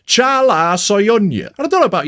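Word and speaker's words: Çağlar Söyüncü: In researching this video, I found out that that is absolutely not how you say his name at all. It's in fact pronounced Chala Soyuncu.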